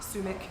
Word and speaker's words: Sumac: Last name is a Mick, not a Mac. Aha! Sumac. Hugo Poison says hi, Sumac.